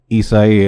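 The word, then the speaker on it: Isaias: the weeken hurricane isas I don't know how to pronounce how to do the English from Spanish translation so I'll just say how is supposed to be said properly isai has passed through and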